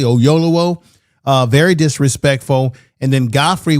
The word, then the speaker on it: Oyelowo: about that, how disrespectful it was with David Oyelowo, if I can say his name correctly, Oyelowo.